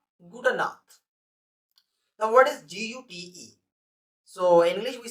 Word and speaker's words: Gute: The word is Gute.